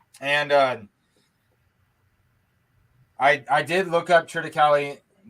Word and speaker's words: triticale: And I did look up Triticale. How are you pronouncing it? Triticale. Yeah, and there's several ways to say it. You can say Triticale, Triticale, but I guess the